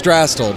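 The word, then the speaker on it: Drastal: Drastel, but that was real close. Okay. It's one of those things where, like, it's pronounced if it was spelled L-E, but it's spelled A-L, so a lot of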